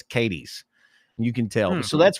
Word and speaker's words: Cadiz: And around Kentucky, we have a bunch that are pronounced Southern.